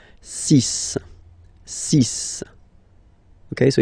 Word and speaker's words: six: And be careful here, because even if it's ending with this x, well, you'll have to pronounce it like s, s, okay? So you get the six pronunciation. Six, six.